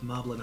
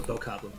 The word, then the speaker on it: Bokoblin: And there is a Guardian, a Lionel, and a tough Moblin on a horse. Or Bokoblin, excuse me.